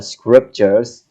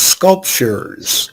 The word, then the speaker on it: sculptures: year before yes and that's pronounced sculptures uh sculptures sculptures gestures right yes that's the